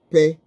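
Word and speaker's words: פ: Pay, fe. But it's the same one letter, but it can be pronounced fe or pay.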